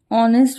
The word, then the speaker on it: honest: put the the ganga honest man this H is silent so o sound will